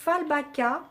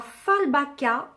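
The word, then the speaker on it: Fjällbacka: Ça se prononce Fallbacka, je crois.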